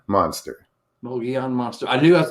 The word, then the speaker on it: Mogollon: your your name your your channel name is pronounced it's mogeon monster mogeon monster i knew i was gonna butcher that